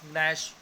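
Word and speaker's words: gnash: जी एन ए एस, नैश, नैश का भी हम साइलेंट हो गया, नेट की तरह बोलेंगे हम इसे।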